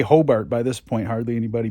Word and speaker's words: Hobart: It is Hobart, like B-E-R-T. If you say Hobart down here, no one will bat an eye. Of course, if you say Hobart by this point, hardly anybody bats an eye.